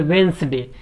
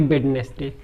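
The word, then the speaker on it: Wednesday: देंगे, तो उसको बोलेंगे वेंसडे, ना कि बेडनेस डे।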